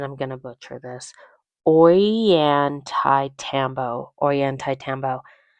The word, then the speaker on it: Ollantaytambo: After lunch, we went to the town of, and I'm going to butcher this, Ollantaytambo. It's spelled Ollantaytambo, but pronounced Ollantaytambo, something like that.